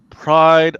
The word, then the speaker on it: Pryde: It's going to be a nice nod to the pride of the X-Men. Uh-oh. Wait, that crappy one-off episode from '89? I don't know, but Yeah. they got pride. Pride is spelled Pryde, as in Yeah, Katie Pride.